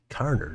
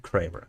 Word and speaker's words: Carner: mispronounced your name there it's carner not Kramer sorry about that uh